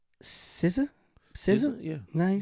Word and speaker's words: SZA: SZA?